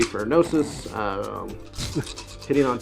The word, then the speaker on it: Gnosis: So Valerian has 3 shots with Gnosis, and not everybody's going to be able to see here. You know, Gnosis starts with a G. The G is silent.